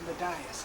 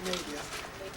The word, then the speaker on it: Medius: Also sometimes mispronounced as Medias, if you've heard that, but it is Medius. I'm Midas. Not Midas.